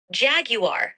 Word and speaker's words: Jaguar: It's pronounced Jaguar.